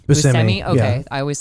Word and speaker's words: Buscemi: Buscemi.